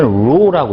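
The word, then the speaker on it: ρ: 읽을 때는 로라고 읽어요. 로. 밀도에 대한 기호고요.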